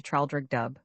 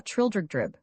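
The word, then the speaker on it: Traldragdubb: It contained a warrant for conducting me and my retinue to Traldrigdub, or Trildrigdrib, for it is pronounced both ways as near as I can remember, by a party of 10 horse.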